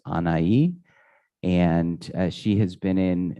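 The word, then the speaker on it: Anahi: k the her name is anayi uh n-a-n-a-h-i pronounced anaii and she has been in um uh for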